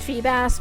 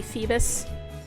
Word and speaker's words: Feebas: I know Feebas is pronounced Feebas, but I keep wanting to say Phoebus. Like the guy from Hunchback.